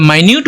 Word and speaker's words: minute: जब माइन्यूट बोल रहे हैं तो वो छोटी चीजों के बारे में बताता है, ओके।